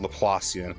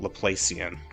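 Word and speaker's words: Laplacian: Yes, this card's name is pronounced Lelassian, not Lelacian.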